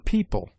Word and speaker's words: people: EO is found in yeoman, where it is sounded as O short, and in people, where it is pronounced like EE.